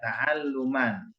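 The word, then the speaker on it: تعلّم: apa tadi tauman taalum Iya taaluman itu cara bacanya taalum apa Taklim taalum taalum Makanya kalau saya Biarin salah semua nanti bacaannya taalum bedain kalau Taklim itu yang ada Y di belakang Taklim kalau gitu bacanya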